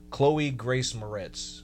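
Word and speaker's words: Chloë Grace Moretz: Chloe Grace Moretz.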